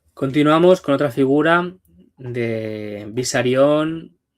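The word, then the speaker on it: Besarion: Continuamos con otra figura de Bisarion. Ya pronuncio, pronuncio bien siempre bisarón porque es el nombre del padre de Stalin y por no saber decir Bisarrión, Pau me castigó en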